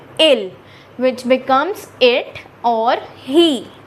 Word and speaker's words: il: fill this with I, which becomes IL, which is the pronunciation will be ill, which becomes it or he, and it is singular in French.